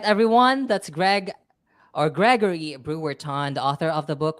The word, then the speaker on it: Bruorton: to love it and my last name is pronounced Brewerton you know how to